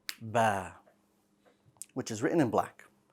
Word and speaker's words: ب: Now, the letter Ba, like Alif, is light. Well, that means that the back of your tongue should stay flat when you pronounce this letter, and that's going to allow your mouth to open horizontally, somewhat, right, very subtly, and it will give you a soft sounding Ba.